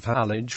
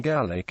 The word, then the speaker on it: Halych: The city's name, though spelled identically in modern East Slavic languages, is pronounced Halych in Ukrainian and Gallic in Russian.